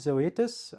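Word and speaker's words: Zoetis: So this company we pronounce it Zoetas um is actually quite an interesting company.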